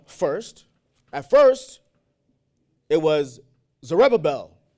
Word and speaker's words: Zerubbabel: Did I say his name right? Zerubbabel. I did. Zerubbabel. Damn, that's Zerubbabel? Zerubbabel? I like that word. Zerubbabel. I put the U in it. So Zerubbabel. Yeah, that sounds better. He first sent Zerubbabel, right, to fix the infrastructure.